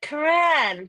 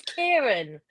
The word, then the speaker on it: Kieran: I always keep calling her Karan, but if not, it is Kieran.